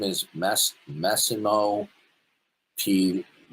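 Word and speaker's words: Pigliucci: His name is Mas Masimo Puchi. The G is silent. Puchi plei.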